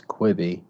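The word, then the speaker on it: Quibi: it wasn't too good is that how you say it creepy quivey i think it's quibby q-u-i-b-i i think it's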